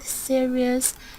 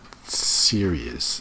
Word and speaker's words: series: is my favorite series. The word is series, not serious.